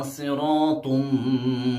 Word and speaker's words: صراط: اس کے بعد هذا صراط، آپ نے دیکھا صراط را کے اوپر الف آیا ہے تو یہاں پہ تفخیم والا قاعدہ لاگو ہوگا، یعنی را کو موٹا پڑھیں گے. صراطم، تم میں آپ نے